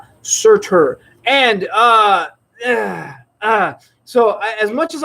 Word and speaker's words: Surtur: And meanwhile, he's got to fight an old Thor foe in the form of Suitor, which is did I pronounce that right? Suitor? Surtur. Never pronounce those names right. Surtur.